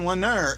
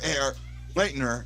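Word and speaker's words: Lehner: right right now robin lennar air lightner has already dropped it out in our i i can't say his name think of leonard but leonard leonard there we go and maybe i'll name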